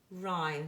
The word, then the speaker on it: rhyme: And down here, rhyme. The H is a silent letter, and we know already that the H as a silent letter tends to follow the letter R.